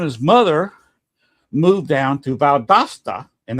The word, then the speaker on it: Valdosta: But him and his mother moved down to Valdosta. And that's the correct pronunciation, not Valdosta or Valdosta. That's how it's pronounced. A little Spanish there.